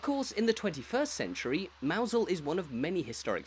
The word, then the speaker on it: Mousehole: Despite what you can see in front of you, the village's name is not pronounced Mousehole, but rather Mousehole, and there are plenty of different theories as to where exactly it came from.